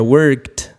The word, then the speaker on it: worked: el presente y worked no se pronuncia worked sino que se pronuncia worked como una t al final eso sería la forma